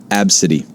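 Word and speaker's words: Abcde: I've seen one where it's spelled A-B-C-D-E, and it's pronounced Absidy.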